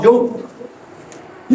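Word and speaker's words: Jung: so that was वन ऑफ़ the writers और the second one is call यंग यंग it's written S जंग जे यू एन G pronounce S यंग call यंग यंग यंग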